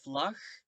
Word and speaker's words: vlag: But the pronunciation in the G, it stays the same. Eén vlag, twee vlaggen. It doesn't change.